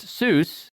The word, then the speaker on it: Seuss: lot and it's dr seuss yeah his most famous pen name is regularly pronounced soos an anglicized pronunciation inconsistent with his german surname which rhymes with voice he switched to the